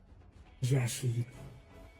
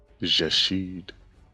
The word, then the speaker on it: Jashid: So it's supposed to be pronounced Jeshid. Jashid.